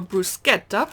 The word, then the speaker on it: bruschetta: pepperonata mixed bell pepper bruschetta or bruschetta if i want to say it properly oh beef and potato